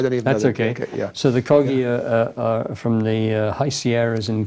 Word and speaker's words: Kogi: the the chief's player is it the GOI is that right the GOI Indians is I'm pronouncing that right uh Ki KI sorry I I'm wrong kogi um the chief he